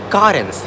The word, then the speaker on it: Carens: this right here is a 2022 Kia currents yes that's how you say it now Kia